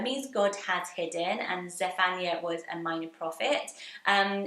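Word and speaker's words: Zephaniah: from the Old Testament what about the name zephania zephania so this is how you say it I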